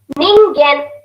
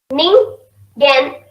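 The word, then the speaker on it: 人間: A human being is called as ningen. Ningen.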